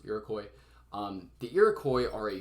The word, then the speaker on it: Iroquois: looks like iroquois i print i promise it's pronounced iroquois um the iroquois are a group of first